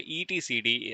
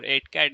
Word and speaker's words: etcd: And the last one which we have is the etcd or etcad. You can pronounce anything whatever you want.